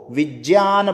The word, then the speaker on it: विज्ञान: ना अच्छे, तो वो विज्ञान बोलते हैं। विज्ञान, वैज्ञानिक, यज्ञ। तो कहने का अर्थ क्या है, ये जय उच्चारण होता है इसका। जय प्लस य से बनता है ये। जय हड़ंत और य पूरा।